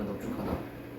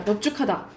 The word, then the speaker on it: 넙죽하다: 넙둥글다 넙죽하다. 오케이. 넙둥글다 넙죽하다. 넙적하다 밥다. 이건 네 개는 외우라고. 이거는 비읍으로 발음된다고.